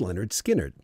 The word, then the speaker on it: Lynyrd Skynyrd: they released their first album pronounced Leonard Skynyrd he formed the band